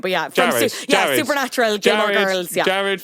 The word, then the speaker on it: Jared: Wade is Gerard, the actor Gerard from Supernatural, right? Yeah. Yeah. I'm not even going to correct you on the pronunciation of his name, but yeah. Jared.